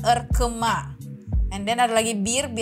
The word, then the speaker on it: ırkıma: Selanjutnya itu I yang nggak ada titiknya bacanya E, ingat jadinya Kahraman Erkema.